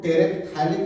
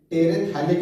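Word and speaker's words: terephthalic: यह PH का उच्चारण जो होता है बच्चों साइलेंट होता है, वैसे इसको टेरेप्थाइलिक एसिड नहीं बोलते हैं, टेरेथाइलिक एसिड। टेरेथाइलिक PH का उच्चारण नहीं करते हैं, टेरेथाइलिक एसिड।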